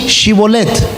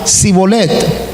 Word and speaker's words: Shibolet: Si decía no, entonces le decían: por favor di Shibolet. Si él decía Sibolet, porque no lo podía pronunciar correctamente, entonces lo capturaban y lo degollaban junto a los vados del Jordán.